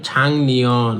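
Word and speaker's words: 작년: তখন এই যে ম্যানেজার উত্তর দিতেছে ছাং নিয়ন মানে গত বছর, এই যে গিউকের পরে যদি নিয়ন থাকে তখন গিউকটা উচ্চারণ করবেন ইয়ং, তাহলে এটা হবে ছাং নিয়ন মানে গত বছর, ইয়রুম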